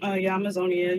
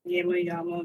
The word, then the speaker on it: Yamazonia: Okay, so I go by the screen name Yamazonia. You can say Yama. Like communities pronounces it like all different types of ways, and that's if